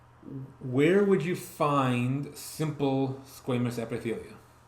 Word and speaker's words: squamous: squamous. So your skin is keratinized, stratified squamous epithelium. I said it wrong. Squamous, not squamous.